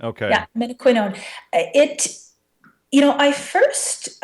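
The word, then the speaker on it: menaquinone: in studying K2 and and how do you pronounce its uh scientific name Min quino Min quinon okay yeah Min quinon it you know I first um I read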